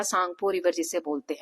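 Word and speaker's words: Tsangpo: यालंग सांगपो river जो है सो ये जो है मानसरोवर से ओरिजिन हो के यहां तक किसको क्या कहते हैं? यालंग सांगपो। ठीक है? इसमें टी साइलेंट रहता है।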